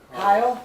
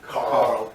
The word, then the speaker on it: Carl: Everyone says Kyle. I don't know. Carl. It's the accent. I know. I'm Tara. Tara, Nice to meet you. Gabby. Gabby. You gotta say Carl. Yeah, you gotta pronounce the R, roll the R.